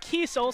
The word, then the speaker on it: Kiesel: I'm getting the pronunciation Kiesel, so sorry for saying the name incorrectly before, but we will correct that from now on.